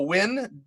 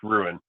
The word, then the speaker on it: Wuin: Apropos Win, WUIN, right? Yeah, but it's pronounced Ruin.